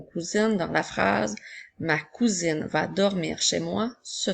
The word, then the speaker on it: cousin: mot nous avons un cousin le mot 1 s'écrit un ensuite nous avons encore une fois la lettre S est encerclée de voyelles donc c'est pour ça qu'elle fait le son attention le mot cousin